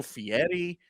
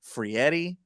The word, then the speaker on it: Frieri: Ernesto Fieri. Fieri, not Guy Fieri. Frieri, yes.